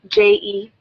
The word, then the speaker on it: Jean: happens to be my last name. Jejean. Jean. Yeah, you'd be surprised how many people misspell that. It's just like a pair. It's just like a pair of jeans.